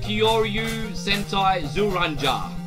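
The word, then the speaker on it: 恐竜戦隊ジュウレンジャー: How you pronounce it? Kyoryu Sentai Zuranja.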